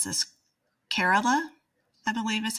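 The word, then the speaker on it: Kerala: so um I think it's I'm gonna totally mispronounce this carerala I believe is how it's pronounced is kind of the center of that community.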